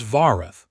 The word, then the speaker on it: Vareth: "It is Vareth. The stress falls first like this," and she leaned toward